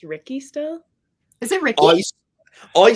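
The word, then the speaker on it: Rikke: of a little hatred there's a rhyme where it rhymes with Ricky not even just the beginning they make it through all the books they're like oh Sticky Ricky Tricky Ricky I'm like how can it rhyme with sticky and tricky if it's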